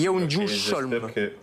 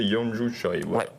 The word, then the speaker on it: Yeonju Choi: Yeonju Cholm. Yeonju Cholm. Si tu sais bien le prononcer, Yeonju Choi. Voilà.